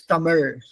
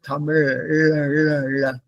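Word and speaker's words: Tamizh: Malalam also they write in English like Z h but in pronounce it as that there is there is no sound for that there is no sound for that in English it's Tamil T A M I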